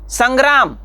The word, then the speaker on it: संग्राम: करना पड़ता है किंतु वही अनुनासिक जब हम शंकर संग्राम इन शब्दों में यूज करते हैं इस्तेमाल करते हैं तो शंकर तो इसमें न का इस्तेमाल करना पड़ता है यानी हमें न का